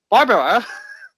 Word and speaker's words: Barbara: We are joined with Barbara. With an accent on the A.